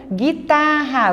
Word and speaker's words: guitarra: Guitarra, você também não pronuncia o U.